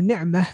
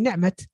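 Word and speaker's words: نِعْمَة: So instead of ni'mah, they say ni'mat.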